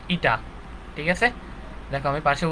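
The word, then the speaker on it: η: এইখানে আমরা একটা জিনিস লিখবো, এখানে ইটা হচ্ছে কি একক ভেক্টর, এটাকে লেখা হয় এরকম, এটাকে উচ্চারণ ইটা, ঠিক আছে?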